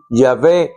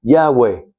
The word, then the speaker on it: Yahweh: Eso se pone en el español para poder uno, el latín, el latino, el hispano parlante poder decir Yahé. Se le hace más difícil decir Yahvé que decir Yahweh, pero no está escrito así.